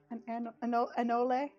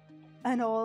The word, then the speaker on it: anole: Anyway, yeah, we'll definitely do you an anole or an anole. And Ole. The E is pronounced.